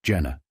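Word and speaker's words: Gener: n r but pronounced Jenna Mr trafficante P you said chairman Stokes G as in George G NE R but is pronounced Jenna Mr trafficante Jenna Macho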